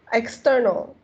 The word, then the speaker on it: external: not s it's consultant external external okay um the the stress here stress on number two syllables so external external external